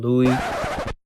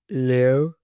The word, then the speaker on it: Liu: Today's video is on Alysa Louis. So, actually, her name is pronounced Alysa Leo, I think, and I've pronounced it wrong the whole video.